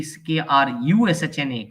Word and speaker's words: Krushna: He said it should be Krushna. Krishna should be spelled with a U.